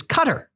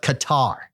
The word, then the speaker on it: Qatar: country from his dad, says that the proper pronunciation of his country's name is Qatar, but the majority of folks and infidels call it Qatar.